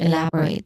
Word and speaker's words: elaborate: Now, the stressed syllable is on the second syllable, love. Okay, love, elaborate. Now, it starts with E, which is a short E sound, elaborate, love. And then it ends with rate, which has a clear diphthong sound.